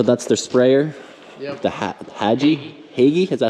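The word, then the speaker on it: Hagie: The Hagee, is that how they say it?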